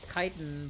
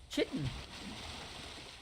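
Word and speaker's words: chitin: chitten anymore their kitan well it's kitan but I like to pronounce it as chitten sounds sounds better hold on hold on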